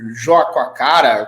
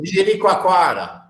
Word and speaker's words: Jericoacoara: Não sei se vocês viram, recentemente foi privatizado o parque o nome do lugar é muito difícil, Joaquacara, como é que é a pronúncia correta?